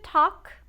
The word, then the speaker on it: talk: To talk, falar. Muito cuidado para não pronunciar esse L, talk, tá?